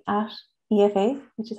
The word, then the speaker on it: Aoife: if uh if i so it's like at efa which is how it's pronounced underscore aoife which is how it's spelled